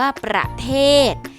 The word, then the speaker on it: ประเทศ: เด็ก เช่น กัน ค่ะ คำ ว่า ประเทศ หา ศ. ศาลา เป็น ตัว สะกด ออก เสียง เป็น พยัญชนะ ตัว เด็ก ค่ะ คำ ว่า โอรส นะ